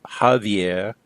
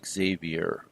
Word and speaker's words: Xavier: Francis Xavier was born in the ancient kingdom of Navarre, and in Spanish, Xavier is pronounced Javier, but we've changed that into English, at least, as Xavier.